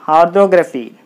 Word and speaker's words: orthography: So, R, T, H, O, do, gra, phi. R, do, gra, phi. 1, 2, 3, 4 syllables are there. So, you take the third syllable from the last. So, 1, 2, 3. So, the third syllable. So, orthography.